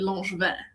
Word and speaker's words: Langevin: And the French pronunciation of my last name is actually Langevin. And so he was like, why would you not pronounce it correctly? It sounds so nice in French. Why are you saying it in this weird American way?